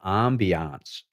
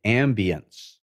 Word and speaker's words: ambiance: it's all about creating the ambiance or the ambience if you prefer french or english pronunciation so you're looking for